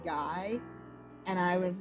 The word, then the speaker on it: Guy: Guy, and I was like, wait a minute, Guy is a real last name except it's pronounced G.